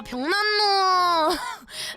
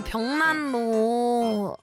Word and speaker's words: 벽난로: 아니 병 병난 로요 벽난로 여러분 너 내가 찾아봤어 아 내 발음이 그렇게 이상한가 그랬는데 이제 벽날로라고 하더라고요 벽난로 나는 그냥 벽난로 해가지고 이제 벽난로 이렇게 얘기한 건데 구거 시간에 잤냐고 하셨지만